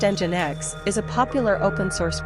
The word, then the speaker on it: Nginx: Jinx pronounced engine X is a popular open